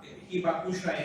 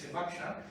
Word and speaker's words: Hibakusha: Hibakusha is not the right pronunciation, it's Hibakusha.